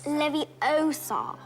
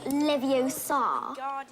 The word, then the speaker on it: Leviosa: i can totally relate you're saying it wrong it's leviosa not leviosa you do it if